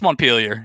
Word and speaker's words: Montpelier: from is the capital of vermont but we pronounce it completely different it's montpelier if you're in vermont it's montpellier if you